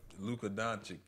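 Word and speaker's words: Luka Dončić: Luka Doncic, that's how you say it.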